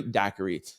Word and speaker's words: Daiquiri: Daquiri like strawberry daiquiri. Hi, Tren. It's Daiquiri. Pronounced like strawberry daquiri.